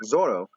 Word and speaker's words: Zoro: people have a really really really hard time pronouncing the L and the L's come out as ours so like it sounds like Zoro my mind sorrow I think it was I